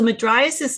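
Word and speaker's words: mydriasis: actually asked I doctors how do you say this word and they they struggle with it too midias is usually how we say it you might have another variation of it so madis means large pupil so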